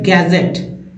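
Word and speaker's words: gadget: हो गया उसके बाद गैजेट गैजेट गैजेट में डी जो है ये डी जो है साइलेंट है गैजेट नेक्स्ट फ्रीज फ्रीज में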